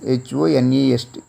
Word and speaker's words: honest: In the same way, the next word is H-O-N-E-S-T, honest, not honest, honest. Therefore, H is silent here.